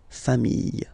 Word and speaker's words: familles: the plural form, les familles, okay? Remember, chien, singular form, chien, same pronunciation, but you put this S, okay? Final S, not pronounced. Famille, singular form, famille, plural form, same pronunciation, S, not pronounced.